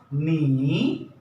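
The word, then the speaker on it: 你: एन आई सो जो tone है ये ये फॉलिंग एंड राइजिंग बोलता है आप फॉलिंग एंड राइजिंग टोन है जो प्रैक्टिस में आएगा एन आई इज नी एन आई नी एन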